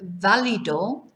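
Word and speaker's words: válido: this one uh valido notice where the accent is on the first day on the only a in fact uh which gives us the stress on the beginning of the word right not valido so valido so this is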